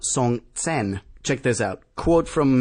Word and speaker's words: Songtsen: Maybe it's not Songston, but Song Tsen.